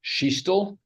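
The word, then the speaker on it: Scichtl: for the record certainly my name is James sheel and the last name is spelled s c i c h TL and what is your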